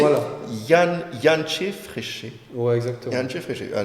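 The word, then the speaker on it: Jantje Friese: ouais, Bon, c'est prononcé voilà. Yanché Fréché.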